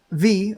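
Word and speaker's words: Vis: And as we cook them, we're going to start to fill up with V or Viz or whatever you pronounce it as. Direwolf calls it V from what I understand.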